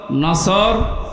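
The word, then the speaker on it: نصر: এই জন্য তেলাওয়াত যখন করবেন সোয়াদ উচ্চারণটা মুখ গোল করা লাগে।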